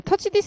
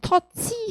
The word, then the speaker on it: touch this: 막 우리나라 이 발음으로 터치 하면 발음이 되게 틀려요. 그래서 touch this deal 이렇게 하시는 거야.